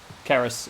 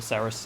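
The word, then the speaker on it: Cerys: Keris, or Ceres, as the game pronounces it. I went to university in Wales. Keris is a Welsh name. It's pronounced with a K, with a hard C.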